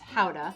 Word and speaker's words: Gouda: in holland and actually takes its name from the town of gouda which is actually pronounced hauda young gouda tends to